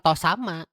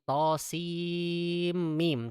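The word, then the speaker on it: طسم: Nah, ini bacanya bukan to sama. To sama, salah. Karena orang Arab menyebutkan sin ya sin, mim ya mim. Jadi bukan to sama, tapi to sim mim.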